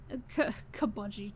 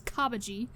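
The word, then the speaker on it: Cabaji: very funny yeah um kabudi I kabudi Jesus Christ I don't know why he decided to pronounce his name like that it's kabaji um when when I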